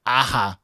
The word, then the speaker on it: Aja: This is Star Wars Darth Maul number 2, the Incentive David Aja variant. I'm going to just say the J is silent. Or David Aja variant, however. Aja, yep.